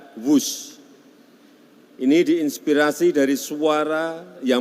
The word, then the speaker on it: Whoosh: W-H-O-O-S-H. Dibaca WUS. Ini diinspirasi dari suara yang melesat dari kereta berkecepatan tinggi ini. Dan singkatan dari waktu hemat, operasi optimal, sistem hebat. Sekali lagi, W-H-O-O-S-H, tapi bacanya WUS.